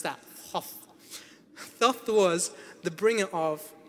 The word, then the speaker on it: Thoth: Try and pronounce that. Thoth.